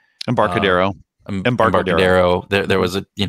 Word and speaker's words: Embarcadero: the the highway in san francisco is the empancardo i i always pronounced that wrong embarcadero embargo there was a you know the freeway